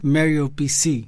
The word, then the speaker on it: Mário PC: my staging name is mario peci in english pronunciation mario pc it's not a personal computer pc it is